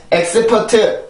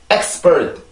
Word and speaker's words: expert: 이거는 절대로 expert 이렇게 4음절이 아니라 2음절 두 번에 걸쳐서 읽어주는 expert 이렇게 해서 발음이 됩니다.